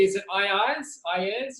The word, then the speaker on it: Ieyes: Today we are joined by the director of PSYCH-K, Duccio Locati himself from, do I pronounce it correctly? Is it Ieyes? Ieyes? How do you say your business name? Ieyes, yes.